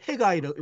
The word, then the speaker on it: Haggai: Zephaniah, Zephaniah, 그다음에 하나야, 학계를 해가이라고 읽어요.